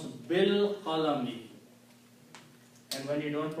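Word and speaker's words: بالقلم: And when you pronounce, you do not pronounce this alif, pronounce bil qalami. And when you don't pronounce, then this changes into a small swal called hamzatul wasl. Okay. Bil qalami, with the pen.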